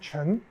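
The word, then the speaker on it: 陈: Ça, c'est le nom de famille Chen en mandarin.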